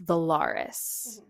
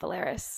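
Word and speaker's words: Velaris: in the next book, and it's Valaris, not Valaris.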